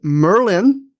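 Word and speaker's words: Myrlyn: And the comm my command this week is I pronounce it Merlin.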